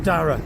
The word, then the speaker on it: Dara: Dara, is that how you pronounce Dara? it? Yeah. Storm Dara, and that blew all the trees into the canal.